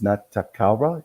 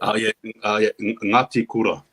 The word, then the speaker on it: Ngati Kura: How do you say the young man's name out of dummy half of the Cook Islands? Natakara, is that correct? Ngati Kura. Ngati Kura.